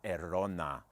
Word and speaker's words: Arona: is the seat arona say it errona you say it like that it sounds more like paella like a rona you have to get the thunder rolling you know so this